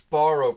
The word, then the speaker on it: Sparro: least spell it right it's Sparro Pizza not Sparrow it might be the way I say it or the accent I don't know but that's how you pronounce it it's Sparro how the donkeys beating the